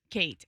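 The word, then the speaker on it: Khaite: Well, if you're mispronouncing it, I I Kate K h ai t e. That's Kate.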